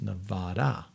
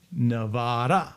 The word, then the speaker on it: Nevada: And I'm getting told in the chat, it's pronounced Nevada. Nevada. I should write that down because this is one I struggle with. Nevada.